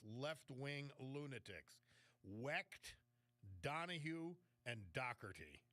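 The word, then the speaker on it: Dougherty: lunatics, WCT, Donahghue, and Dockerty. We spell it, we call it Doherty around here, but Dockerty, uh Johnny Doc, the uh electrical union political kingpin from Philly, that's his brother.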